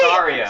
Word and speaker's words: Saria: Half the population on Earth calls her Sarah. Where? Why? I thought it was Sarah. It's not how it's spelled. No, it's It's Saria.